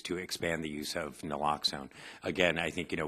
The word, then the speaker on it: naloxone: of noxil and how do you say that naloxone naloxone yeah and we've had some success with that